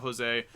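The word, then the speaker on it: José: Volume 4 is the Joe Carioco and Panchito comics. Carioco, that's not how you say his name. Jose, and it's not Joe, it's Jose.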